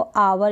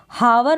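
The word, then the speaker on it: hour: तो यहाँ पर H को हम क्या कर रहे हैं, साइलेंट रख रहे हैं, प्रोनाउंस नहीं कर रहे हैं। हावर ना पढ़े, हार ना पढ़े, हॉनेस्ट बिल्कुल ना पढ़ें, गलत हो जाएगा।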